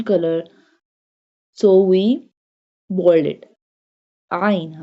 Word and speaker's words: ع: Ain. Ain pronounced from the middle part of throat.